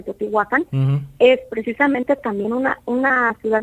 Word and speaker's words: Teotihuacán: Inclusive ahí en Teotihuacán, porque así se pronuncia Teotihuacán, es precisamente también una ciudad intraterrestre.